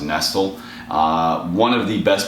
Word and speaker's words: Nestle: eat by Maran Nestle it looks like Nestle the candy bar but it's actually pronounced nestal uh one of the